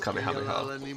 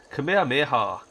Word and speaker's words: Kamehameha: hello it's not pronounced kameha that's how we pronounce it because of Dragon Ball but e calls himself Kamehameha is is how he says it it's it's a